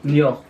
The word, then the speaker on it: Niort: Ou de Niort, je sais pas si ça se dit le à la fin. En gros. Niort. Le T il se prononce pas là.